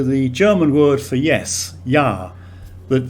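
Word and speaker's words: ja: german word for yes yah that the j in german is pronounced like a y in english and the short uh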